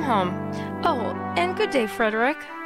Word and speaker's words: Frederick: That explains why Friedrich, I keep wanting to say Friedrich after like the sound of music. Why Frederick tolerates all the teasing, eh?